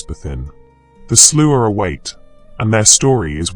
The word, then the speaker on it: Sluagh: And the name Sloo is no exception to this ancient principle. The word itself comes from the Scottish Gaelic pronounced roughly as Slooh.